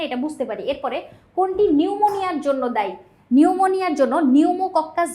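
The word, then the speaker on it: pneumonia: এখানে মানে নিউমোনিয়ার লক্ষণ জিজ্ঞেস করছে। সেক্ষেত্রে ফুসফুসের শ্লেষমা জমা এটা হচ্ছে আমরা নিউমোকস ব্যাকটেরিয়া আক্রমণ হলে দেখতে পাই। এখানে দেখ সামনে কিন্তু একটা সাইলেন্ট পি আছে।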